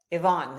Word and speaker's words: Ivan: I pronounced your name wrong in the intro. Ivan, is that correct?